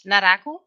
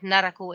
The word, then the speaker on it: Naraku: Wait, it's Naraku, but Naraku is acceptable.